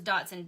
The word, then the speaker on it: Dachshund: Somebody said it was Dotson, D-O-T, like you say it Dotson, but it's spelled like dash hound.